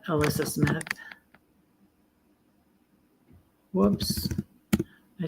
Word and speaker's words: Elissa: It's like Alyssa, but it's spelled with an E.